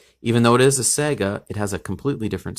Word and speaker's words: Saiga: that appears to look like canta but it's pronounced Saiga in Russian who makes the Saiga shotgun and